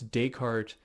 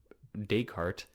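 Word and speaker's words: Descartes: do you pronounce it why do you pronounce deart deal and I was like okay okay dayart um but dayart does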